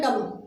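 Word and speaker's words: dumb: और देखिए फ्रेंड्स इसमें बी भी है, तो बी साइलेंट रहता है इस वर्ड के अंदर, इस वर्ड को हम पढ़ते हैं डम।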